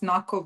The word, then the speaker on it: NAKO: Is it NAKO or NAO? The Ukrainian Defense and Security Think Tank. How do you prefer to pronounce your acronym? Elena, we we pronounce NAKO, but people do it both ways.